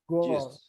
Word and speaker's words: gorgeous: out because she's gorgeous remember the pronunciation of this word Gore gorgeous you know this is this is something that that kind of um challenges the mind of a Latino because you are like what happened nothing happened it's very